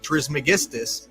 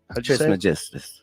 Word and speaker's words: Trismegistus: These Watchers told an Egyptian sage Hermes Trismegistus to write this book.